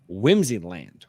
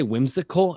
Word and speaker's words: Whimsyland: Go and follow Whimsyland, right? I got that right. Because I keep wanting to say whimsical, and it's not. And I've said it wrong before.